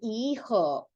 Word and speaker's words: hijo: Because the H is silent, so this sounds like hijo.